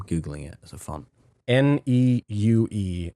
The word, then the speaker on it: Neue: Neue is how you say.